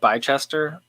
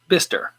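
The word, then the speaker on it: Bicester: in a town called i would call it bychester from the way it looks at it it's in the uk he says it's pronounced bister i see that i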